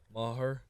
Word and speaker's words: Maher: Maher.